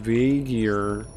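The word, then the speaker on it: V'Ger: all of Star Trek it's pronounced vagar there's no way I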